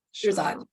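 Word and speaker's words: Shirzad: I always get his name wrong. I know how to say it. Shiraz.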